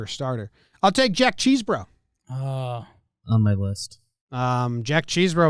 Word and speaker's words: Chesbro: I don't think it's Cheese-bro. I think it's Chess-bro. I think it's Chess-bro, but that's only because I just hope it's not pronounced Cheese-bro.